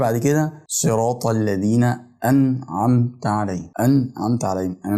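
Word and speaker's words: أنعمت: الايه ديت هي كلمه انعمت عليه ما النون هنا ساكنه مش بفتحها ولا بكسرها عشان معنا متغيرش بنطقها ساكنه يعني بظهرها اظهار خفيف اما عمد انعمت علي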